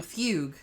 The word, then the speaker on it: fugue: And I was like, you mean fugue? And he was like, yeah, that's right, fugue. No, it's like the Pogues. No. What? No. Just like the Irish band, the Pogues.